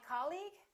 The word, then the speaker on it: colleague: or colleague he's my colleague that's right once again it's the first syllable repeat after me colleague